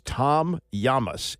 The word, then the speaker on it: Tom Llamas: and I didn't really even know how to pronounce it. I was told it's Llamas. His name is Tom Llamas, L-L-A-M-A-S.